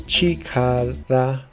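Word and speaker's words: 力: The vocabulary meaning for this particular kanji is power, but the pronunciation of it is different. It's chikara.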